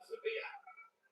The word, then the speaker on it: Sevilla: Dennis marathon run that 204 55 for the fourth place in Seville, Sevilla. The Spanish pronunciation of 204 Sevilla.